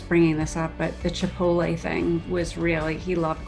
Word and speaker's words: Chipotle: and I said, well, I wonder what that Chipotle restaurant is. He started laughing and he goes, you mean Chipotle, Mom?